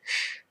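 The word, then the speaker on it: Ssssh: As for the albums that come with this set, the correct pronunciation would be shh, but I like calling it shush.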